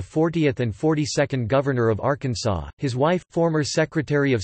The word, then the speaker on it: Arkansas: In 1881, the pronunciation of Arkansas with the final S being silent was made official by an act of the state legislature after a dispute arose between Arkansas's two U.S.